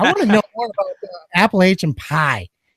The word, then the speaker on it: Appalachian: But hey, I want to know more about Appalachian pie. Yeah, don't ever fucking pronounce it that way again, motherfucker. Isn't it Appalachian pie? Appalachian. I'm a Yankee, so I don't know how they say it over there.